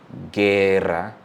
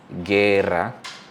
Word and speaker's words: guerra: When G is followed by UI or UE, the U is silent and the G gets back its voice, its hard voice. So for example, guerra, guerra, or guitarra, guerra, guitarra.